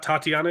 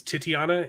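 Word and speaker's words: Titania: also plays um titiana it's not tatiana it's titiana in she-hulk the villain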